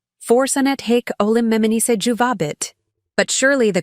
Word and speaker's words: juvabit: Juvabit should be pronounced with the emphasis on the second syllable, not the third.